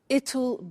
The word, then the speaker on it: it'll: I said tomorrow it'll be cold. You notice how it will becomes it'll.